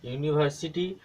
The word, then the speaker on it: University: पहला का क्या रहा है, यूनिवर्सिटी, यू क्या रहा है, यू यू यू क्या होता है हमारा, ये य होता है, स्टार्टिंग क्या हो गया, य।